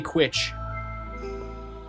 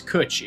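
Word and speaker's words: cwtch: No, it's Kutch. It means cuddle. Oh, okay. Yeah, I mean, the W is just pronounced as a U, but otherwise it's pronounced the same way.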